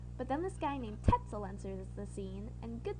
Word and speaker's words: Tetzel: But then this guy named Tetzel enters the scene, and good thing his name rhymes with pretzel, because he is just as twisted as one.